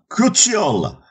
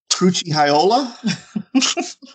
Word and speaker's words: Cucciola: Cucciola. Did I do that right? Yeah, that's good. Because my hillbilly ass would have said, I don't even know what I... Crucciola?